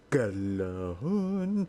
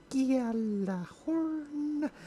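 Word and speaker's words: Gjallarhorn: Now everybody in Rise of Iron will be having a Galahorn, or as they are now re-pronouncing it, Galahorn.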